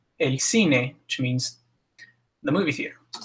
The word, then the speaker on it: cine: Now, if it's followed by one of the soft vowels, E or I, it's pronounced like el cine, so almost like an S in English. El cine, which means the movie theater.